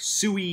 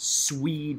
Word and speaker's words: Sui: the swede now i know that looks like sui it's pronounced swede dynasty and specifically how did they reunify or